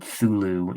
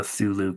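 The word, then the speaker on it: Cthulhu: well I guess I they call it thulu in in the audio book that I listen to not this the see is silent yeah and you know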